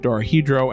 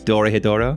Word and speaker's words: Dorohedoro: saw Decadence, Ascendance of the Bookworm Part 2, Dorohedoro, and Tower of God.